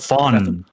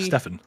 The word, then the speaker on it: Stephan: How do you pronounce that? Stefan. That's usually Stefan. Like Steph Curry.